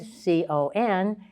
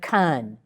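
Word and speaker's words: con-: And C-O-N is not con, but kun.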